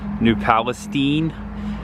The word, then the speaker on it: New Palestine: We used to go back and forth with how we pronounce New Palestine, New Palestine, New Palestine. Half the town says Steen, half the town says Stein.